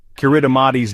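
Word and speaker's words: Kiritimati: Kuridamati's name, pronounced Christmas, comes from its discovery on Christmas Eve in 1777.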